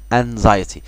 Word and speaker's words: anxiety: مالكش دعوة بالإكس اللي هنا في كلمة anxiety، دي نطق زد عادي جدا مش إكس خالص. anxiety anxiety قلق مرضي.